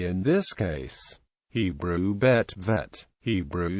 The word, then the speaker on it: Vet: This letter is named Bet and Vet, following the modern Israeli Hebrew pronunciation, Bet and Vet, in Israel and by most Jews familiar with Hebrew, although some non-Israeli Ashkenazi speakers pronounce it Bais and Vase.